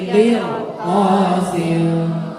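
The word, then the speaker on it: قرطاس: Walau nazzalna 'alaika kitaban fi qilqasin falamasuh. Itu qilqasin. Mirsodat qilqasin. Sama-sama dibaca tebal.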